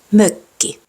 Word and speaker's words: mökki: That O with dots is pronounced like the I in bird or the U in hurt, but with rounded lips. Öljy. Mökki. Söpö.